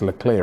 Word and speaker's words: Leclerc: I said Leclerc. It's Leclerc, really, is how you pronounce it.